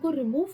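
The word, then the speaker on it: ρ: सो ये हो गया रेजिस्टिविटी, जिसकी इस प्रोनाउंसिएशन है हमारे पास रो, RH।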